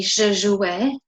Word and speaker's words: jouais: Okay, so you pronounce it the same as if you were saying E accent, except that it's not E accent. So when you hear someone say je jouais, you need to be